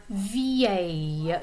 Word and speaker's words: vieille: It has a lot of vowels in it in the middle there, but it's pronounced vieille.